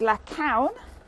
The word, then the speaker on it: La Caune: at a vineyard called la count that's easy to say it's like a cow and then n on and uh i thought